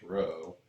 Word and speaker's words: rho: is pronounced a row i know it looks like a p but it's actually pronounced rho okay so this is